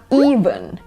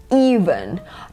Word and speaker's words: event: นึง คู่ นี้ เลย คำ แรก นะ คะ ออก เสียง นะ คะ ว่า Event Event เน้น ที่ พยางค์ แรก นะ อี๊ หนัก ๆ นะ คะ แล้ว ก็ ข้าง หลัง เป็น ชวา ก็ ได้ เป็น เสียง สระ เออ ก็ ได้ นะ คะ